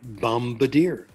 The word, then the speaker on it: bombardier: b is silent but not always how about bombardier there it's pronounced it depends on what kind of ending